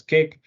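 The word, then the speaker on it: CAIQ: the form of cake it's called CA IQ pronounced as cake that's and as well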